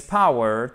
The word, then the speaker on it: power: He uses his power, et non pas power, mais power, power, ok? On a une diphtongue, c'est-à-dire un double son.